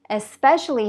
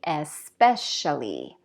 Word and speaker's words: especially: Especially has stress on the second syllable, so you're going to say especially, especially.